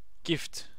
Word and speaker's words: GIF: It's pronounced gift. GIF without T. Well, gift without T.